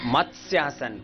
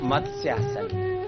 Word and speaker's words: मत्स्यासन: मत्स्यासन। कुछ लोग इसको गलत पढ़ते हैं, क्या बोलते हैं? मत्स्य। गलत प्रोनाउंसिएशन हो गया ना। सही प्रोनाउंसिएशन क्या है? मत्स्यासन।